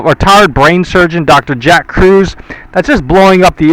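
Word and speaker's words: Kruse: by uh typing in Dr. Jack Cruz. However, Cruz is spelled K R U S E.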